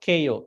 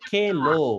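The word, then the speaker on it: kheḷo: Vasa, Keyo, Not KO. Kelo. This is L.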